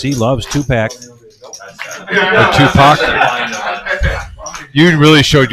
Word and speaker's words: Tupac: I don't know if you guys just heard he said Tupac. Topac. Yeah, it's Tupac.